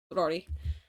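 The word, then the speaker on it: Ruairi: Um first off, Rory is spelled R U A I R I. Um it's a specific um I think it's Celticish. So it is Rory.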